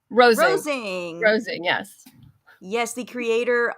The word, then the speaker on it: Rosing: pronounced? Rosing. Rosing.